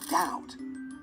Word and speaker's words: doubt: hear the being dubious but it's silent in doubt silent letter stories are fascinating and i love finding